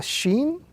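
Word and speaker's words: شين: This letter is pronounced when the middle of the tongue rises and touches the upper palate. That combination would give us the sound sh or the sound of SH in the English language, and it will also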